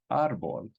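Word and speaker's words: árbol: word that means tree two syllables according to the rule our ball that this word is Arbol so we need to write an accent on it it's an exception to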